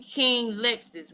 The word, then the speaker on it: Qinglexus: My name is Becoming Qinglexus, right? But the King is spelled with the Q for a reason.